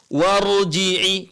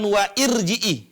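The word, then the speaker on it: وَارْجِعِي: Bagaimana cara bacanya ini warjii cara bacanya ini warjii bukan wa irjii i kalau kita tambah wa warjii Bukan dibaca dengan wa irjii Kenapa karena memang Alif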